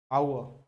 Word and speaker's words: hour: So you will use and not because if a word in English, if a word begins with h, generally you keep that word silent, है ना. जैसे hour है ना, hour, ठीक है ना.